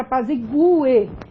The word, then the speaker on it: apazigue: Ele diz o seguinte, a pronúncia desse U é tônica. Então, você tem aqui um hiato, você tem GUE, olha lá. Então, você vai falar a palavra apazigue.